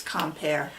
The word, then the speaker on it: Quimper: Sallie: Well, if you say it right it's COM-PAIR.